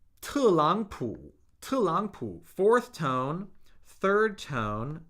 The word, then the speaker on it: 特朗普: The first of the pair is pronounced as a second tone. All right? 特朗普, 特朗普.